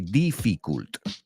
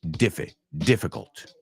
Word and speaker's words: difficult: there's just one problem a lot of the students say def difficult right they mispronounce it they say def difficult right when it's really diff difficult right so why not